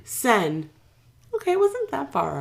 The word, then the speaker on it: Seine: I'm going to pronounce it wrong. Mm-hmm. I'm afraid to say it. Seine? The Seine. Seine.